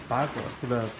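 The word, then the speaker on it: ปลา: And where the ba, how do you say fish?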